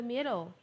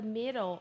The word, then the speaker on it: middle: E o D ali em midle tem som de R também.